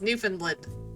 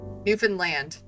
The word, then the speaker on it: Newfoundland: Do you put the emphasis on the fund or the new or the land? New fund land. No emphasis. Newfoundland, which is what I said at the beginning. Newfoundland.